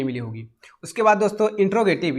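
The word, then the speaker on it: interrogative: दोस्तों, इंट्रोडक्शन नहीं है, इंटेरोगेटिव है। आप अगर बोल रहे हैं इंट्रोगेटिव तो ये गलत है, हमने आपको बताया था मेरी क्लास में, आपको प्रोनाउंसिएशन भी इंपॉर्टेंट है इसके लिए। तो कहने का मतलब दोस्तों यहाँ पे इंटेरोगेटिव होता है, इंट्रोगेटिव नहीं होता है। अगर आप इसको कह रहे हैं तो यू आर रॉन्ग।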